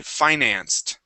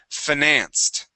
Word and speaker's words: finance: now this word here there's two ways to pronounce this you guys uh personally I say Finance okay with a long eye financed all right other people say financed all right um but